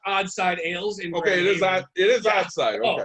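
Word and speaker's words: Odd Side Ales: Nick it's pronounced Oddside Ales.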